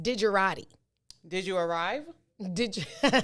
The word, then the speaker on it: digerati: of the day word of the day it's pronounced digerati did you arrive did you dejarati it is